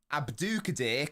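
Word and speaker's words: Abdukodir: second instance Abdu Abdu abdukadir kasanov rate my pronunciation rate it I asked the phonetics calculator how to say Abdul Kadir and the emphasis is on the do the second so let me know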